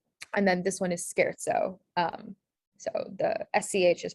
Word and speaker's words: scherzo: language pattern maraschino and then this one is scherzo um so the sch is pronounced with uh this guy um cool so